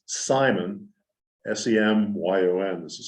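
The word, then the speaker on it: Semyon: And his dad, and his name is pronounced Simon, S-E-M-Y-O-N, this is spelling.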